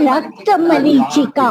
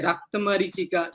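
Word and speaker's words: रक्तमरीचिका: अम्मा ये जो हम लोग कह रहे हैं रक्त मरीचिका, ये प्रोनाउंसिएशन ठीक नहीं है। मतलब इसको हम लोग कहेंगे रक्ता या फिर आकाश, मतलब सही से मरीचिका।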